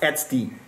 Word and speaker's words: etcd: can control the whole api secondly it runs xd etcd it's frequently pronounced sd sd is a distributed database it's the database